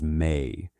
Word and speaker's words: me: The mi pronounced approximately as may in reconstructed Sumerian were the divine decrees, the fundamental laws and institutions that made civilized existence possible.